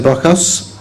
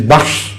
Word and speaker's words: Baksh: They pronounce the word Baksh as Bakas. Yes. And I have repeatedly told them, if he happens to be an Ahmadi, he should have known that they should return to the correct pronunciation of the word Bakas, which is Baksh.